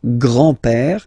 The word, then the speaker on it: grand-père: So, le grand-père, grandfather. Le grand-père. Remember, accent grave like that. It's this opened père.